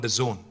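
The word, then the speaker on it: DAZN: and exciting company called The Zone it's pronounced the Zone but it's spelled d-a-z-n now the zone is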